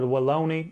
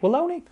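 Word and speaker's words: Wallonie: the results from the tour de walone is how you say it walone that's how i'm saying it i don't care stage one was won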